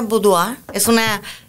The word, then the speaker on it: boudoir: Boudoir, así se escribe. Se pronuncia boudoir. Es una palabra francesa.